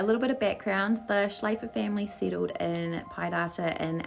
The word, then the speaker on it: Schlaepfer: It's Schalpfer, and I'm pretty sure when the P and the F together are like Fur. Yeah, like Michelle Pfeiffer.